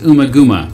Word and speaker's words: Ummagumma: Not wasting any time, the band also recorded their fourth studio album that year, Ummagumma, also maybe pronounced Umaguma, released by Harvest Records on How many albums they have released?